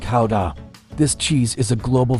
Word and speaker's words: Gouda: Although, fun fact, the locals pronounce it more like Gouda.